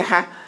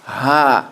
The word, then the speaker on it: ح: Don't say ha. Say ha. That is the correct way to say it.